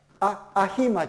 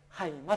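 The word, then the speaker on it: αἷμα: だからアヒマじゃなくてハイマと読むんですね。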